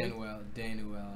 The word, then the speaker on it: Danuel: Danuel, I think Danuel. Kind of like Manuel. Yeah.